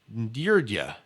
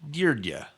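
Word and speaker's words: György: it I've been calling your G but it's deer Jia pronounced it's gy Oh with a new flat rgy like Georgie Georgie and says this pronounced deer dia yeah DUI er D yeah deer yeah yeah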